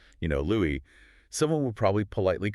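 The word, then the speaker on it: Louis: He stated on the record, quote, "My mother always called me Louie, not Louie." Wow. put a very heavy, deliberate accent on the S.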